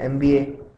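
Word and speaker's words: MBA: तो ये शुरू तो हो रहा है एम से, जो कि कॉन्सोनेंट है, बट जब हम इसे बोलते हैं एमबीए तो एक तरह से ये या ऐसा वाला प्रोनाउंसिएशन सुनाई पड़ता है, एम, एमबीए। तो बेसिकली ये एक वॉवल से शुरू होने वाला साउंड बन जाता है, इसलिए हम एनएमबीए यूज करते हैं।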